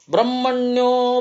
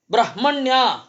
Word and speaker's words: ಬ್ರಹ್ಮಣ್ಯ: ಗೆಲ್ಲುತ್ತಾನೆ ಜ್ಞಾನವೆಂಬ ಹಣ ಸಂಪತ್ತು ಬ್ರಹ್ಮಣ್ಯೋ ಬ್ರಹ್ಮ ಕೃದ್ಬ್ರಹ್ಮ ಬ್ರಹ್ಮ ಬ್ರಹ್ಮ ವಿವರ್ಧನಹ ಬ್ರಹ್ಮವಿಬ್ರಾಹ್ಮಣೋ ಬ್ರಹ್ಮಿ ಬ್ರಹ್ಮಜ್ಞೋ ಬ್ರಾಹ್ಮಣ ಪ್ರಿಯಹ ಹೇಗೆ ಹೇಳಬೇಕು ಅಂತ ಬ್ರಹ್ಮಣ್ಯ ಅಂತ ಹೇಳೋದು ಸರಿಯಾದ ಉಚ್ಚಾರ ಯಾಕೆ ಅಂತಂದ್ರೆ ಬ್ರಹ್ಮಣ್ಯ ಅಂತನೆ ಹೇಳಬೇಕು ಪ್ರತ್ಯಯ ಪರಸ್ಚ ಅಂತ ಸೂತ್ರ ಪ್ರತ್ಯಯ ಯಾವತ್ತು ಧಾತುವಿನ